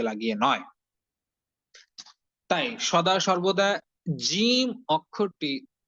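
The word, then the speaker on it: ج: প্রথমে আমি সঠিকভাবে জিম অক্ষরটি উচ্চারণ করছি, বরাবর জিহ্বার মধ্যখান উপরে তালুর সঙ্গে লাগিয়ে।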